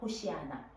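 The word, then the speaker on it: הושע נא: 뜻이 혹시 뭔지 아세요 원래 발음은 호시아나예요 호시아나 여호수아 할 때 예슈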